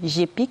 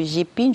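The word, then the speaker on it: GPIGN: Beaucoup de Camerounais prononcent mal. On parle du GPIC et pourtant c'est le GPING.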